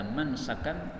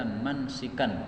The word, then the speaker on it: منسكا: Mayoritas para ulama qiraah membacanya mansaka. Sebagian ahli qiraah yaitu qiraah Kufah, mereka membacanya mansika. Kecuali Imam Asim. Imam Asim juga qiraah Kufah, tetapi beliau membacanya seperti qiraah yang lain yaitu mansaka.